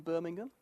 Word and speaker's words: Birmingham: the Sun now for all you Americans in Birmingham it's British Birmingham not American Birmingham I